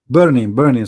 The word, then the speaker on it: Bernie: I would like to see Barney Sanders, his name is Barney or Bernie? How you say his name? Barney or Bernie? Bernie Sanders.